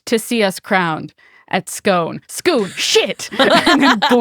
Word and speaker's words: Scone: anyone in America reads the word scone and says scone and he's like wait the last word of the play is gone and her teacher's like no no it's goon because it's supposed to rhyme with each one oh boy it's